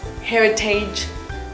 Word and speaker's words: heritage: The word is often mispronounced as heritage, but pay attention to the letters A-G-E here. It's not age, but itch.